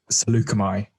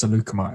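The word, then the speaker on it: Saleucami: grievous to the planet salukimai i think i pronounced it wrong last week is salakumi it's salukimo apparently he tracked him there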